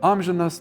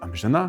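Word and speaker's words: amžinas: For example, ámžinas but amžinà “everlasting”, šiùkšlinas - šiukšlinà “rubbish”, mė́šlinas - mėšlinà “dungy”, pur̃vinas - purvinà “dirty”.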